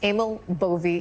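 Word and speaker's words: Emil Bove: Well, first of all, his name is pronounced Amal Boie.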